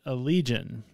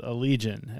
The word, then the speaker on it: Allegaeon: on YouTube that they actually do call it Allegaeon. And I will say it was a video of like how to pronounce band names.